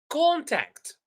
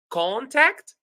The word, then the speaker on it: contact: The first case is when it is a noun. If it is a noun, we stress the first syllable. For example, contact, record, record, record. Number two, if we have verb, we stress the second syllable if we have two syllables. For example, contact and record.